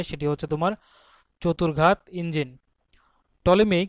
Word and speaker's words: Ptolemy: টলেমি কে ছিলেন? টলেমি ছিলেন মূলত একজন জ্যোতির্বিদ, গ্রিক স্কলার টলেমির কিন্তু স্পেলিংটা হবে তোমার PTOLEMY, পিটা এখানে সাইলেন্ট থাকবে।